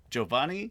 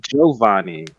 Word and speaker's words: Giovanni: Giovanni Gilardo. Okay, that's good enough. We accept Don't it. say it's good enough. It's perfect. Is it? Wait, you said Giovanni. Yeah, you don't pronounce the I really.